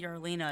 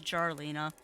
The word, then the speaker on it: Jarlina: I keep saying Yarlina, it's Jarlina. They actually pronounce the J.